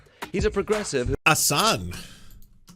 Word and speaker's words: Hasan: Assan. H is silent now.